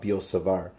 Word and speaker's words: Biot-Savart: the law of biot-savart I don't think you pronounce the T actually it's the law of biot-savart or the magnetic field